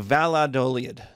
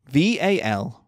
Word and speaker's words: Valladolid: The Valladolid debate. V-A-L-L-A-D-O-L-I-D.